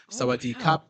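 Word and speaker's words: สวัสดีครับ: six months oh wow how do you say hi and hi uh you say hello or goodbye uh Saadi Saadi Kap is uh for men it's cap for women it's Ka so you would say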